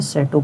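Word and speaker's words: château: इसमें सी एच ए टी ई ए यू इसकी spelling देख लेना और ये है सेटो पढ़ेंगे इसको सेटो आलीशानता का प्रतीक है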